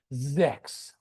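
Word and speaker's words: sechs: Actually, I did not pronounce correctly. It should be sex, okay?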